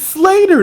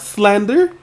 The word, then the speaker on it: Slater: It's Slater, not Slander.